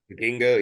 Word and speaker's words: Vikingo: Vikingo.